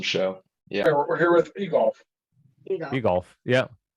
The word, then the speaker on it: Eglaf: So we'll so it's Eglaf. Yes. It's Eglaf, and it is.